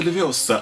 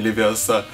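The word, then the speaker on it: Leviosa: Это Левиоса, а не Левиоса.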